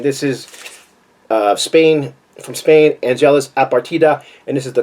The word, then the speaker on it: Angelus Apatrida: I finally am starting to be able to pronounce his name. APATRIDA, Angelus APATRIDA.